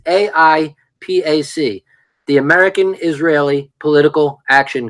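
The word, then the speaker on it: AIPAC: very people APAC now when he says ipac it's a different pronunciation it's AI Pac the American Israeli political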